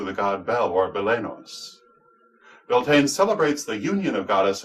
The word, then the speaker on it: Beltane: Beltane, pronounced Baltina in Gaelic but Beltane in English, is celebrated on May 1st.